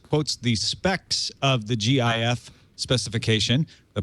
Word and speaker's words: GIF: the specs of the GIF specification the pronunciation of GIF is in the spec to be gif as in Jiffy rather than GIF which